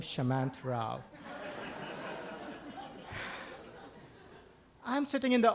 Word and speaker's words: Shamanth: bring himself to pronounce, and he says, Samantha. Turns out there is no Samantha in the audience. Looks up at his notepad and says, Shamanth Rao, which sounds suspiciously like my name, Shamanth Rao.